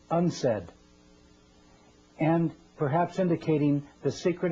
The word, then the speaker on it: UNCED: It is pronounced Unsaid.